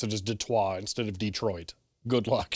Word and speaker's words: Detroit: like a Detonator yeah Detroit is perfectly acceptable just don't call it d Detroit Detroit oh oh over pronouncing pronouncing the uh the first part of it okay got